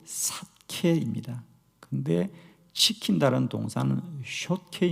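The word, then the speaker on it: שָׁקֵד: 지켜라 는 동사 즉 살구나무 라는 명사와 시킨다고 하는 동사가 같은 발음 이에요 예를 들면 이 살구나무 가지 란 뜻은 히브리 로 사케 입니다 그런데 시킨다는 동상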